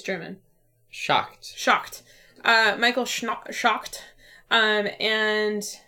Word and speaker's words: Schacht: It's designed, all of those games are designed by Michael Schnatt. How do you say it? It's German. Schacht.